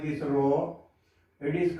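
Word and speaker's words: rho: as row is called as it should be pronounced like this row it is called as resistivity what it is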